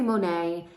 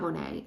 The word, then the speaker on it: Monat: brand partner I always I say Monet it's not Monet it's Monet Monet um I always say